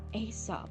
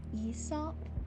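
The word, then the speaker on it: Aesop: The Greek storyteller it's based on is technically supposed to be pronounced like Esop, where the A is silent. Not that that keeps most of them from pronouncing it Asop.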